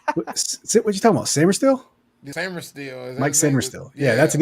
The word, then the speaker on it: Sainristil: Sainristil.